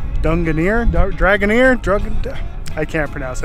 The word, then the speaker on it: Drangarnir: to the sea arch that is pronounced Dunga near dragon ear drug and